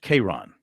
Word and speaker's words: K'Ron: Now, this first name pro is spelled K''Rojhn. It's pronounced K'Ron.